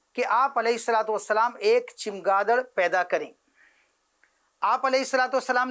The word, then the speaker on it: چمگادڑ: اس کا تلفظ چے پر زبر چمگادڑ.